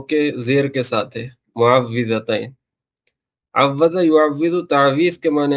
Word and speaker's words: معوذتین: والی ہے، اسی لیے اس کا صحیح تلفظ واو کے زیر کے ساتھ ہے، معوذتین بولتے ہیں اس کو۔ پہلے ترجمہ سن لیں،